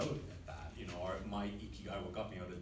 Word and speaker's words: ikigai: I pronounced it wrong. Ikigai. Ikigai.